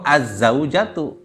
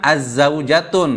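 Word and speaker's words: الزوجةُ: tuh tanpa ada apa-ap kalau pakai alif lam yang gak mungkin itu a a zaujatun atau azzaujatu jangan azzaujatun Nah itu salah pokoknya gini alif lam dan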